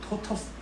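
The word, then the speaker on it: tortoise: 그리고 흔치 않게 요 바디 바인딩이 흔히들 이제 토토이즈라고 뭐 얘기하기도 하는 찾아보니까 제대로 된 발음은 토터스 뭐 그런 정도더라고요.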